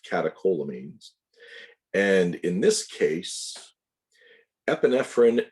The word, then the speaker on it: catecholamines: but you'll hear people use that term it's pronounced catecholamines and in this case epinephrine and norepinephrine are